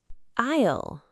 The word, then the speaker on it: aisle: Isle. Good. The word is spelled A I S L E, but we say isle.